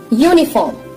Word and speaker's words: uniform: R is silent here.